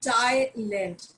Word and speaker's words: Thailand: that is a but the city it is thailand and it is not island please do not pronounce it as thailand but thailand and so